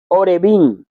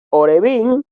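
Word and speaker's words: עורבים: La palabra hebrea para cuervo es Orebim. Orebim. Esa es la palabra para cuervo. Pero esto se puede pronunciarse como Orebim y el significado es cuervo, pero también se puede pronunciar como Arabim, que significa árabe o beduino.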